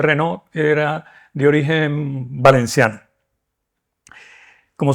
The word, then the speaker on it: Renau: arte española que es Josep Renau, pero se pronuncia Renault, era de origen valenciano.